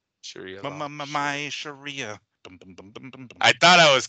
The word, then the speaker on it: Sharia: the Quran and the Hadith um so it's s h a r i a Sharia Sharia Sharia I thought I was close until you